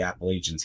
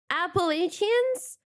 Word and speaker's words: Appalachians: I mean, this is the Appalachians here too. What? Wait, I keep hearing this word. The Appalachians? I'm saying it wrong. I've been calling it like Appalachians.